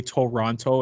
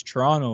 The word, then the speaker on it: Toronto: from toronto you don't you don't call it toronto you call it i get so mad i guess like it's literally a trigger it's a trigger warning for me man when i hear like americans say toronto it's like bro it's toronto like just say it right the toronto all right